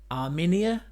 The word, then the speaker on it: Arminia: It's actually pronounced Armenia.